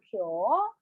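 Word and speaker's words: 今日: So, kyo for today. Again, today in Japanese is kyo. So this is a one syllable only.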